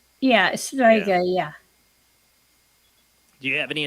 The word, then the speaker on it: strega: Strega.